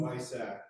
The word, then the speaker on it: BISAC: If you look at the second one, delete field 600 if 600 subfield 2 matches Bizach, what's the official pronunciation? Anyone? Bisac. Bisac, thank you.